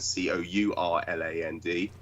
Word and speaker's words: Kurland: In the German, it's spelled with a K, Kurland. In the English, it's Kurland, Courland.